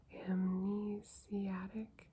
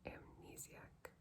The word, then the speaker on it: amnesiac: story amidst the amnesia amnesiatic is how what I want to say but that's not how it's spelled amnesiac effects of globalization grappling with the intellectual sensitivity of a batum.